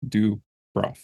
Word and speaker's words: Dubroff: phonetically as well um a lot of people try to throw Accents in there it's just do bro that's it do bro